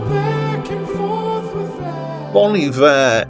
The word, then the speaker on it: Bon Iver: Bon Iver is pronounced like the French term Bon Hiver with an H at the front of the Iver, which means something like happy winter.